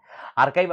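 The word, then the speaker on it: archive: आर्काइव, अगर आप आर्चिव बोलते होंगे, आपके ऊपर है, आपका प्रोनाउंसिएशन कैसा है, उसको आर्चिव नहीं बोलते, आर्काइव बोलते हैं।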